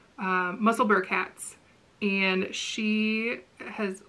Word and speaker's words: Musselburgh: she has been knitting i know it's not pronounced muscleburg but that's how i'm going to pronounce it musselburgh hats and she has